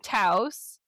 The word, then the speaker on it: Taos: So, it's pronounced Taos, which rhymes with house.